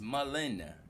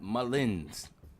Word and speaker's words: Mullen: ] is Mullins man it's Mullen not Mullins yeah I mentioned mull